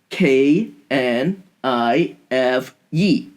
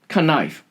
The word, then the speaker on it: knife: first language she asked her father how to pronounce k n i f e her father told her knife as a little girl she thought that her parents know everything so she pronounced it canife she was laughed at in school but now